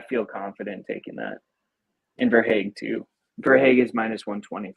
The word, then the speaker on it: Verhaeghe: Verhaeghe, yeah. Verhaeghe. I'm the name pronunciation guru, so I've got you.